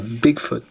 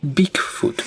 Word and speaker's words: Beakfoot: Not Bigfoot, Beakfoot, which is a weird, hard to pronounce thing.